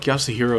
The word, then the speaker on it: Yasuhiro: I feel like Yasuhiro is like one of the easier names to pronounce cuz you just like look at it and that's how you pronounce it. It's like four syllables.